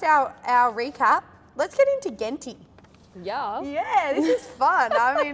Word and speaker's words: Genti: Genti with a hard G. G sound.